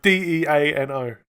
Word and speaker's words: Dino: Like a dinosaur? No, it's Deano.